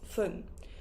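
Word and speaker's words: 分: as pun or as fun. So if it finishes with 1, 3, 4, 6, 8 or 0, we will say pun with P, pun.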